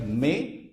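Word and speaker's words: mais: example I'm giving like m a a i s this is pronounced like May which means but but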